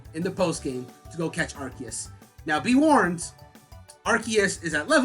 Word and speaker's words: Arceus: god or whatever, but the movie was pronouncing it Arceus for the entirety, and I was just like, all right, so it's Arceus.